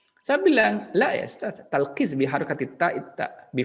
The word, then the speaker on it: Talqis: Misalkan saya talqis, kemudian ditulis dengan Arab ta, lam, qaf, sin misalkan. Ya, sin, lam, talqis. Tapi dosen misalnya yang dari Afrika memanggil tilkis di kasrah.